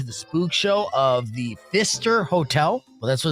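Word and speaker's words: Pfister: spook show of the Fister Hotel. Well, that's what it's called. Fister, but with a P. The P is silent, much like my last name, actually.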